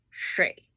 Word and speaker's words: 水: 水 is a little bit difficult to pronounce, okay, for non-native people.